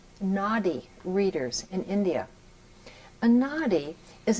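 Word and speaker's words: Nadi: since 1988 to two people that are called Naughty readers in India aady is an ancient manuscript it's spelled n a DI if you can imagine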